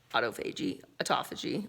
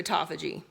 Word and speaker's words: autophagy: Like that's how you, if you really want to get deeper into autophagy, I'm learning how to say it the right way.